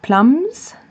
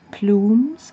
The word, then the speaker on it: plumes: And not plums, but plumes, I think it was the right way to pronounce it.